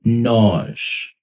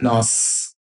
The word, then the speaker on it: nós: So nós, if you notice that sound at the end is not the nós. It's not nós. Some Brazilians might pronounce that some way, but in Portugal, it's always going to have more of a ZJ kind of blend.